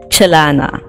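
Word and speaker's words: celana: they pronounce it jelana chilana it's more similar to how chinese specifically mandarin would pronounce well they don't pronounce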